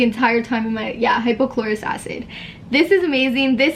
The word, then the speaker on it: hypochlorous: it wrong the entire time in my yeah hypochlorous acid this is amazing this helps with acne